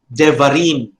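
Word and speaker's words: דברים: So what you do is to reduce the vowels so that the var then becomes devarim.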